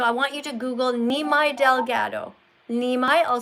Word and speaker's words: Nimai: So, I want you to Google Nimai Delgado. Nimai, I'll spell it for you and you can go and Google him and go and check him out.